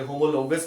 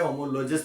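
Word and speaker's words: homologous: होमोलोगस भी बोला जाता है, होमोलोजस भी बोला जाता है, जो बोलना है आपको याद रहना चाहिए उसका स्पेलिंग।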